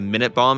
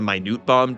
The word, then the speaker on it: Minute Bomb: As an aside, the Japanese pronunciation indicates that it's definitely the Minute Bomb and not the Minute Bomb, just to put that discussion to rest.